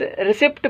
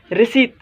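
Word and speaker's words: receipt: रिसीव ठीक रिसीप के अक्सर स्टूडेंट्स रिसीप्ट पद सो बिल्कुल गलत आए पी खामोश आए सो जो सही उच्चार आए सही प्रोनंसिएशन आए रसीद रसीद ठीक है रसीद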